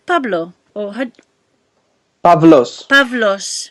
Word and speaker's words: Pavlos: And uh, is your name Pablo or Pavlos. Pavlos? Ex- Pavlos. yeah, exactly as it's spelled.